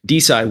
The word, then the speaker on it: Desi: This is Desi Wheels Merge Tycoon. Sorry, as it's pronounced, Desai Wheels Merge Tycoon.